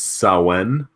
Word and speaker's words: Samhain: It was Samhain, which is naturally spelled Samhain.